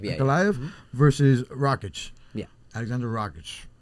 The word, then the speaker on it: Ankalaev: How do you pronounce it? Ankalaev, yeah. Ankalaev versus Rakic.